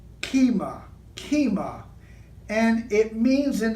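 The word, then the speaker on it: כימה: Taurus the Bull and in the Hebrew it's pronounced kima kima and it means in the Hebrew pictographs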